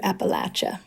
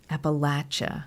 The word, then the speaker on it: Appalachia: we we pronounce it Appalachia Appalachia and my godmother always used to say say the way to remember is to just think of throwing an Apple at you okay I'll never forget